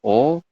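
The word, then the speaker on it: 옷이: Tulisannya ot-i, tapi teman-teman nanti bacanya adalah oshi. Latin dalam Indonesianya adalah oshi seperti ini.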